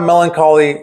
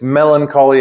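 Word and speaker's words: Mellon Collie: It's melancholy and the infinite sadness. But it's not melancholy like the u the word for a strange sadness. It's melancholy as in like a girl.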